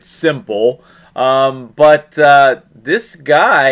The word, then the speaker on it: s1mple: game s one mple it said you pronounce it simple um but uh this